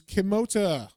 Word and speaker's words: Kimota: magic word which is kimota which is atomic backwards it's spelled with a k though at the end